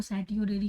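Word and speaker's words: certiorari: कार्टियोरेरी के लिए देखेंगे, कई देखो, कई लोग इसको कार्टियोरेरी कहते हैं, कैटियोरेरी कहते हैं, कई लोग इसको सैटियोरेरी कहते हैं ना।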